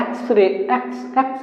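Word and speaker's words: X-ray: इसके बाद वाले को एक्स रे इसको उच्चारण करेंगे आप तो क्या होगा एक्स रे मतलब आया है यहां लगेगा एम सिंपल आएगा तो अन लगेगा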